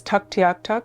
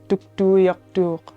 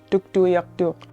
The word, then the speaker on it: Tuktoyaktuk: In English, it's known as Tuktuuyaktuk, but the correct pronunciation in Inuvialuit, our language, is Tuktuuyaktuuq, Tuktuuyaktuuq. So I try to educate people to pronounce it properly.